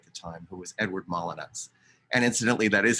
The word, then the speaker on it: Molyneux: people call them edward molyneux because of its french spelling but he always insisted it was a good english name and he said people